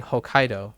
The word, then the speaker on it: Hokkaido: denot denot to so um I've been saying Hokkaido most of the time right and so kaido